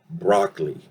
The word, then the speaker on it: broccoli: In reality, at least in the American variety, that O sound, it's not actually a no, but it's more like an gets reduced, and in reality we pronounce it as broccoli.